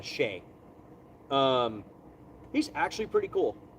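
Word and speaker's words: Chiey: watch him I think it's spelled c h i e y but it's PR it's pronounced uh sheay um he's actually pretty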